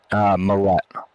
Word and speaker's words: Millette: Most people pronounce it without the E's or without some of the T's or whatever, and Milletti or whatever like that. But right. Yeah, it's just like Gillette.